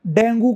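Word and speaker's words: dengue: डेंगू को डेंगी कहते हैं, टॉर्टोइज, कछुए को टॉर्टस कहते हैं, लायन को लायन कहते हैं।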